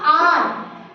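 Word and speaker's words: hour: अब बाकी अब देखो जैसे मैंने लिखा आर अब यहां पे एच साइलेंट है। ठीक है? तो ओ की साउंड आ रही है।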